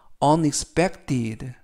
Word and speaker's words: unexpected: 뜻이 되겠습니다 이번 표현은 unexpected unexpected unexpected라고 발음하시면 되겠고요 단어가 길어서 강세를 알려 드리면 알파벳 E 이번 단어에서 알파벳 2가 세 개가 나오는데요 두 번째에 있는 알파벳 2에 강세가 있습니다 그래서 다시 한번 발음을 해드리면 uned unexpected라고 하시면 되겠고요 품사는 형용사 뜻은 예상밖